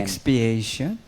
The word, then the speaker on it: expiation: Doon naman sa expectation how would you pronounce that? XP I a T I O N. Expiation.